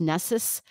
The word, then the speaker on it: Nessus: it'll have NASA on it and I'm saying Nessa but it's print it's pronounced nessus so it's n-e-s-s-u-s oh okay oh no wonder